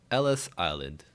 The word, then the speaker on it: Ellis Island: Dude, just goes Ellis Island. Rhymes with Dennis Island.